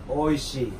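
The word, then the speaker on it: oishii: Oishi.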